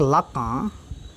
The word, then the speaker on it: Lacan: Jack लाका, इसको Jacques मत पढ़िएगा, उसको लाकान मत पढ़िएगा, ठीक है। जैक पढ़ा जाता है इसको, जैक लाका, ठीक है। Jack लाका the French fried.